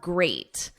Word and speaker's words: great: Now we have great. At the end, it's ate, like the past simple of eat.